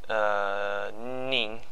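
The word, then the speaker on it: 零: So alright, for Fujianese, zero is pronounced Ning. It's basically the Mandarin Ling, but with the N sound.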